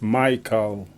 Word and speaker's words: Michael: it okay but it's spelled in the Jamaican style as in is Israel thank you but it's Israel and is myc a and it's Michael Israel you get the Jamaican Twan okay I'll I'll try